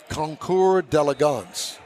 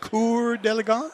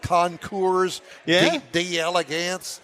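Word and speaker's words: Concours d'Elegance: had to look it up how you really pronounce conour delance is the way it's pronounced conour delance uhhuh conour although it looks like conour de Elegance no it's not uh that's maybe the hillbilly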